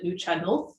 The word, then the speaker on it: Nuu-chah-nulth: You know, we hear from the Inuit, we hear from a First Nation called the Nuu-chah-nulth, I think is the pronunciation of that.